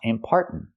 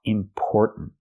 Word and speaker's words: important: word is not pronounced important it's pronounced important important not are like car and far important but or like Store and More or important let's talk